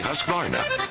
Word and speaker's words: Husqvarna: now how to say husqvarna you say husk like corn and barn like varnish without the ish and